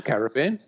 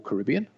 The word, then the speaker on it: Caribbean: like dial in Andes the Caribbean yeah or Caribbean depending on where you want to uh get your your pronunciation from and uh so that